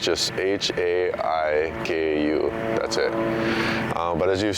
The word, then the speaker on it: Haiku: H-A-I-K-U. And we say it, although we spell it that way, we say haiku.